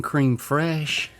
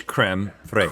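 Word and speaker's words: crème fraîche: And I'm not doing cream fresh. Is that not how you say it? I'm reading it. Cream fresh. I think it's creme fraiche.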